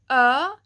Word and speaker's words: ö: And finally, the pronunciation of ö is kind of like the I in bird, bird.